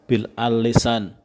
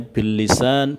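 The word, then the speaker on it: بالسان: Kadang-kadang kalau teman-teman tidak tahu tentang bahasa Arab, itu bahasanya metode dakwah bil al lisan, bil al qalam, bil al hal gitu. Jadi ini bacanya bil lisan, bil qalam, dan bil hal. Ya, jangan sampai keliru.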